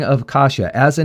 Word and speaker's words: Kasia: I can find it, this is a name of Polish origin, and the proper pronunciation is Kasia. That's how it's supposed to be pronounced, is Kasia, as far as I understand.